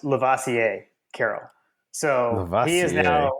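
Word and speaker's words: Lovasea Carroll: I think you had we have referred to him as like love ay Carol is what I thought but it's actually pronounced lavasier Carol so he is now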